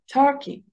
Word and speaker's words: Turkey: شفتوا كي اتخطفت بسرعة جدا، تر هي اللي عليها الستريس، فبقولها Turkey. I want to travel to Turkey one day.